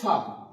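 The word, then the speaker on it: ف: তো তারপর আসছে ফা। ফা উচ্চারণ করার সময় উপরের দাঁত নিচের ঠুটের সঙ্গে লাগিয়ে। উপরের দাগ নিচের ঠোটের সঙ্গে লাগিয়ে উচ্চারিত হবে ফা। ফা এবং একটা বাতাস বের হবে। মুখ থেকে যখন আমি বলা শেষ করব শেষের দিকে ফা। একটা বাতাস বের হয়ে যাবে।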